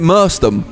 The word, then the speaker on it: Merstham: Adam, we're here at a new boxing booth gym in, do you pronounce it Merstham?